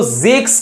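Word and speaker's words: sechs: सिक्स जब 16 की जगह यूज़ होगा तो जेक्सिक्स का एस नहीं यूज़ होगा।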